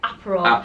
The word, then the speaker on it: Aperol: How do you say it? Aperol. Aperol spritz. So I keep saying apparel spritz.